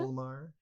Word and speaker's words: Folmar: Is it Folmar? Did I pronounce that right? Folmar. You nailed it.